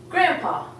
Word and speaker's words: grandpa: see the D when you say we say grandpa so we're actually omitting the deep and to